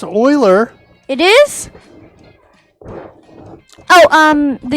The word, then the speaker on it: Euler: of type float and uh public euler is pronounced euler it is oh um the euler angles euler angles the rotation as euler angles in